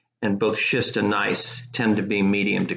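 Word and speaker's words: gneiss: foliation direction here's what nice looks like notice that the G is silent so we pronounced this nice rather than good nice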